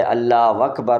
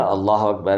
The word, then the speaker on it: اللہ اکبر: اور جو غلط ہے اللہ اکبر اس کو آپ زیادہ سر میں بنائیں گے تو وہ کس طرح آپ کو بکھری ہوئی اور الگ سے نظر سنائی دے گی. پہلے آپ جو ہے سن لیں جو اوریجنل اللہ اکبر ہے عربی لہجے میں مکہ مدینہ والے انداز میں، وہ کچھ اس طرح آپ پڑھ سکتے ہیں.